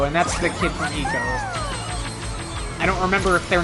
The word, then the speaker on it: ICO: ICO. You're talking about Eco, right? I'm pretty sure it is pronounced Eco, not Ico.